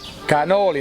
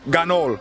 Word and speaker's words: cannoli: Cannoli, not gannol.